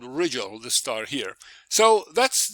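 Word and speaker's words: Rigel: I think I've heard people pronouncing it wrongly. Regal, but anyway, it's called Riggel.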